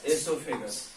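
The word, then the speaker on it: oesophagus: called food pipe or esophagus o is silent here o e s o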